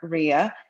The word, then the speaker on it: Ria: It's Raya. I screw it up every time. I'm gonna get it right. No, it's Ria. You said it right the first time.